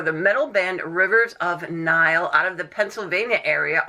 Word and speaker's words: Nihil: not wrong you know you can say in the heel we pronounce it nile but it's uh it's